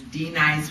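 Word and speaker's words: Denise: um L prie said my name is D nice I always said rhyme with be nice and I do try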